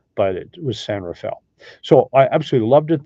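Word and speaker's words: San Rafael: was called San Rafel it's spelled like it's pronounced San Raphael but it was San Rafel so I absolutely loved it there I still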